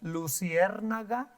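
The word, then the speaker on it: luciérnaga: ovens in Spanish no can you say that luciernaga luciernaga that's it yeah okay so that you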